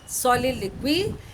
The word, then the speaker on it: soliloquy: It is pronounced soliloquy.